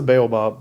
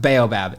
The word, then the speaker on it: baobab: I think it's the baobab, but Fun fact that you've now brought up, in England, it's pronounced baobab.